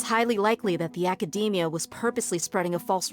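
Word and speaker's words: Akademiya: be from the Academia I keep pronouncing it academic Academy I think but it's Academia apparently oh some time ago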